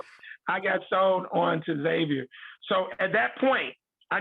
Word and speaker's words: Xavier: i saw the catamount x-a-v-i-e-r-x xavier and uh of course now we we the the x is silent so you say xavier and so um and